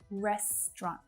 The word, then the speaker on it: restaurant: But in English, you will hear native speakers reduce that down to just 2. Restaurant, which is very quick and easy, right?